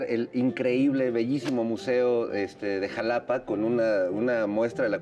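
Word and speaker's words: Xalapa: Sí, fíjate, el Museo de Antropología de Jalapa, o Max, porque la Jalapa allí se escribe con X, el famoso Max es pues uno de los grandes museos arqueológicos del país.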